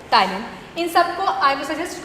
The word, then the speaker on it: ptyalin: P-T-Y-L-I-N, ptyalin. Again pronunciation में P आपका यहाँ पे साइलेंट है, राइट?